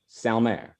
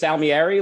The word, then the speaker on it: Salmieri: Oh, is it just Salmieri, like it's spelled out? Yeah, I just pronounce it like it's spelled. I'm not sure how actual Italians pronounce it.